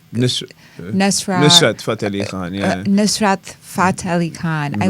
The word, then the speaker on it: Nusrat Fateh Ali Khan: And I always mispronounce his name, Eliafata. Nusrat Fateh Ali Khan, Nusrat Fateh Ali Khan.